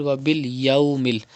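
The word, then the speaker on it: وباليوم: It is waw lean, and waw lean is pronounced without stretching and without sudden pause. So you have to read wa bil yawmil. Do not say wa bil yawmil. Do not stretch.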